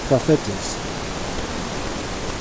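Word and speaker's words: προφήτης: The word prophet is a Greek word. In Greek, it's simply pronounced prophetes.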